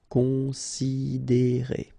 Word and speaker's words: considérer: Considérer, okay, same thing here. You get this accent aigu, and then the sound is E. Considérer.